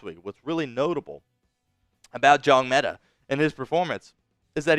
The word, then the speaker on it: Njongmeta: Bricktop says the N is silent. Yes, Maema Njongmeta. That N up front is silent.